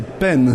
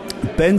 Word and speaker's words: Penfao: Alors et puis vous prononcez bien parce que c'est peine, c'est sûr, parce queon la plupart du temps les gens disent pain mais peine c'est tête.